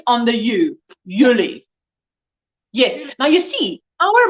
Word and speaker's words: Julie: accent on the you yuli yes now you see our month july if you say it in afrikaans it sounds yuli that's how you say